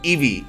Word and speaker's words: Eevee: Que no se dice Eve, perdón, Eevee, lo siento.